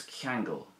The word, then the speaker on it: Ceangail: This is kangle, and that's the Irish verb to tie, as in to tie a knot.